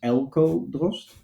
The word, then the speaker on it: Eelco Drost: Um, my name is um for people outside of the Netherlands, Elco Drossst. And people inside of the Netherlands could they call me.